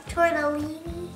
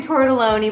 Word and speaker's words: tortelloni: You said it wrong, though. Tortellini. I know. It's actually tortelloni, but I usually say tortellini.